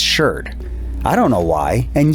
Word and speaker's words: sherd: Now, before you archaeologists across the pond start jumping into my comments section, I know it's pronounced shard in other places, but in American archaeology, it's sherd.